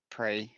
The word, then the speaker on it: Prix: Do we call it Prix or do we call it Prix? What do you guys reckon? Pre. It's pre-Zippy. Come on. Up. The French pronunciation.